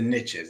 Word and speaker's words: niche: The riches are in the niches, is what they say. It's niche, but the niches, because it rhymes, right?